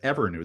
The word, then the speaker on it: Evrnu: She's the CEO and co-founder of Evrnu. That's spelled Evrnu.